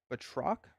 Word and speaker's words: Batroc: I've been saying Batrock. I think someone helped me with the pronunciation. I do think it is Batroc. So Batroc.